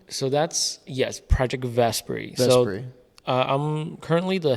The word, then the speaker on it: Vesperi: Vesperi, am I pronouncing that correctly? So that's Project Vesperi.